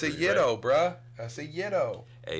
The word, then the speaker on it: gyro: Saying ytos, man. And not gyros. Oh, yeah. You got to be cult. It's a yto, bro.